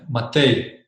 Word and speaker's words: Matej: It's if you put a Y at the end, Matej. Okay, Matej. I think it works, with a Y.